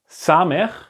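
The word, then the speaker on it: סמך: It's like the letter we saw here, samech. It's the same pronunciation as this letter, seen.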